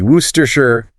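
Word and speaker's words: Worcester: Actually, many historical English place names underwent a sound change process called illusion, where consonants just disappear and vowels reduce down to the schwa sound, that little h sound. So, if you can confidently say wooster, you've mastered a significant challenge.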